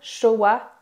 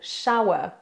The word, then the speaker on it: shower: chat chat ch chat encore une fois le r à la fin ne se dit pas en British English ça va être juste une un son de voyelle plus long show ça va être exactement la même chose pour power Power et souvent les Français ont tendance à dire po ou show Showa comme un showroom show mais c'est pas du tout le même mot shower exle I need to